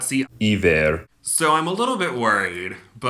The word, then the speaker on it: Iver: have Fernanda and Ivar, I-V-E-R, I believe Ivar. Future Gabe here. His name is pronounced Iver.